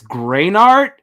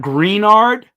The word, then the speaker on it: Greenard: about Bob greenard is the way he says to say it's greenard so it's not greenard it's greenard I'll fact check it